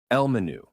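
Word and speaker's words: menú: Elmenu. That one's pretty easy for English speakers because it sounds almost the same. But notice the accent is on the last syllable. Me, not menu.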